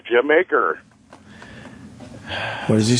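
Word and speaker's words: D'yer Mak'er: I was going to talk to you about the famous contraction of Dire Maker by Led Zeppelin. That's how a lot of people pronounce it. Jamaica? Yeah, it's the Jamaica.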